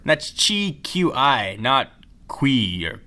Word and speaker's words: Qi: wireless charging support built into Nexus 4 that's Chi Qi notq or Qui it's pronounced Chi we got a look it up